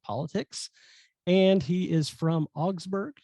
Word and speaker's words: Augsburg: He is studying in international relations and comparative politics, and he is from Augsburg. Am I pronouncing that correctly? Augsburg, Germany? Yes, yeah, you pronounce it correctly.